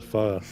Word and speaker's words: pho: The pho, or the pho as people would sometimes pronounce it, which is incorrect.